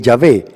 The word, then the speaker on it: Yahvé: cuatro consonantes el tretagramatón lo más cerca la pronunciación es yagüe el yahvé el que existe por